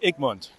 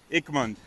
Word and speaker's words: Egmont: okay all right so what's your name I'm Mund Mund very good how do you spell that e g m o n t okay